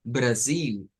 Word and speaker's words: Brasil: acento de portugués brasileño, decimos Brasil y decimos Portugal. Se cambia la L por U, pero eso solo sucede en el acento del portugués do Brasil.